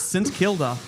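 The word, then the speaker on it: St Kilda: It's since Kilda. There is Google it. There is no There is no Saint. If you pronounce it that way, you're banned from Arab.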